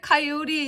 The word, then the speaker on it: coyote: 다 배우신 거예요 그러면 코요테 의 발음이 왜 카요리 있지를 설명해 드리겠습니다 바른 기호가 지금 보면 코요테를 저 카이라고 그랬는데 크는 크 발음을 낼